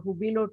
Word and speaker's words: Hubilo: I also had to learn to pronounce what is this Hubilo, Hubilo. Now I know it is Hubilo.